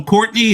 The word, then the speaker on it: Courtenay: It is pronounced Courtenay, but it's spelled Courtenay.